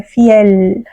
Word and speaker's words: fiel: Agora no espanhol não, é fiel, com a L prolongada, né?